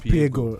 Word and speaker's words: Piego: Did I pronounce that right? Piego. It's Piego, right?